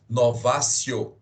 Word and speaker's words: novatio: escreve professor novatio tão o em latim o de tem som de c na pronúncia Ok então se escreve novatio legis mas como vocês vão pronunciar novatio legis novatio legis e